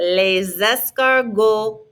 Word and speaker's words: les: the s again repetite less don't pronounce the s's on the end lesami les exama les